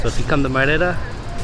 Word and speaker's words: Mérida: So if you come to Merida, Merida is how it's pronounced. Merida. Merida.